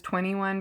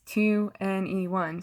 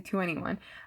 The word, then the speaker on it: 2NE1: Belle also performed before EXO during the closing ceremony, and she's from 2NE1, which I've also heard pronounced as 21, but it's 2NE1, so I say 2NE1.